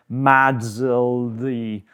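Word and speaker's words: MASLD: You don't really need to know about that, but you might hear it referred to as MADSLD. That's literally how we pronounce it now.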